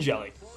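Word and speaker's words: Hjelle: His full name is Sean Anthony Joey, pronounced Jelly, son of Mark and Sue Joey, born in Fridley, Minnesota.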